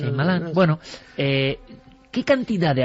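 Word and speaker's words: Shyamalan: Y curioso, ¿queréis escuchar a cómo se pronuncia? Shamalan el director. Shaimal. Señor Shaimalán.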